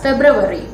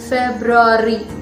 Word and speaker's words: February: its spelling and also with its pronunciation people mispronounce this word as febrivary but it's not february it's february february remember and the next one one of